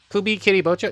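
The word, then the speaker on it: Kubikiribocho: Kubi Kiribocho? Yeah, I pronounced that correctly.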